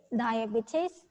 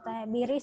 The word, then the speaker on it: diabetes: if you want diabetes diabetes is british accent or diabetes is american accent both are right diabetes diabetes choose one